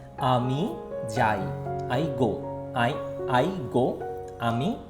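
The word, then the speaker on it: আমি যাই: How I pronounce? Ami Jai.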